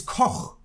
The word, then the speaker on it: Koch: No, they're Coke. The Koch brothers. See, that's the thing it's Koch. It's a German name. It just means chef.